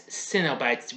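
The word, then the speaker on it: Cenobites: pain and pleasure called cinnobites that's cinnabites with a c-e-n-o-b-i-t-e-s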